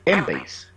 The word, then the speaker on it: Embase: Pero en Europa, el par de PubMed, que es una base de datos americana, en Europa es Embase, que se escribe en base, ¿no? Pronuncia Embase.